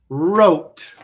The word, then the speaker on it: wrote: to write something right right wrong wrong wrong wrote wrote wrote wreck wreck wreck wrap wrap wrap